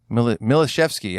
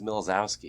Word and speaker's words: Milashevsky: me and Alex and maybe Tom Milashevsky, actually, is how you say his name. Is it? I always thought it was Milzowski. It was Milashevsky.